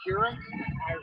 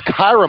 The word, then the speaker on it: Kyra: My daughter goes, is it Kira? Kyra. Thank you so much. We finally get a pronunciation that's Kyra Marlett.